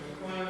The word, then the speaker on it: McClellan: I hope I'm saying your name right. McClellan? McClellan is right.